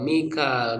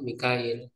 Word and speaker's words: Mikail: Nah, jadi ee Mikail bihamzatin waain dengan hamzah dan ya. Mikail ada hamzah dan yanya. Wafi ukhro bila yain dan pada qiraat lain tanpa ya. Jadi mi ee apa? Mikail pendek ya dibaca pendek jadi tidak panjang. Mikail ya. Jadi ee disebutkan ada enam ya, ada enam cara pembacaan terhadap ee kata Mikail. Fainnallaha aduu lil kafirina.